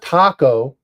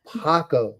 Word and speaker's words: Paco: huh buddy yeah Panda it's not taco no I mean it Rhymes but it's Paco it's p with a p as in Paul as in Panda as in Paco as in Paco H